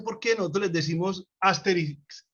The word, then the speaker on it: Astérix: en españa le dicen astérix y obélix y en francés pues con todo lo francés siempre la tilde siempre el acento al final es astérix y obélix no sé cómo se